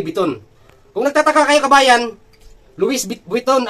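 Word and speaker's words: Louis Vuitton: kung nagtataka kayo kabayan Luison ang pag ano niyan ang spelling. Pero pag i-spell mo yan is Louis von kasi sa mga francis ah iba kasi yung pagkabigkas nila. Parang silent s walang s. Luison kabayan. Loui biton sa atin ang pagkabasa natin.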